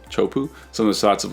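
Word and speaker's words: Teahupo'o: I mean like some of the shots of like Taipu, is that how you say it? Taipu? Chopu.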